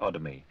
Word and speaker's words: Odomi: Gann, spelt with two N's, and the struggling Nigerian author S. Odomi, with the emphasis on the O.